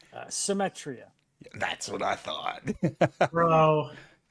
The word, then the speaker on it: Symetria: Vince, and I don't want to butcher the pronunciation. How do you say the band's name? Symetria.